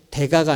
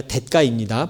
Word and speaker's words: 대가: 아까 제가 우리 청소년 대가지만 이 대가라는 뜻을 쓸 때는 대가가 아니라 대가입니다. 발음이 한국 표준어 발음이 대가예요.